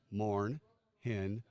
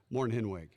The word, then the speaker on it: Mornhinweg: It's a German name. It's 3 syllables. M-O-R-N, Morn. H-I-N, pronounced H-E-N, hen. W-E-G, pronounced W-I-G. Mornhinweg. Mornhinweg.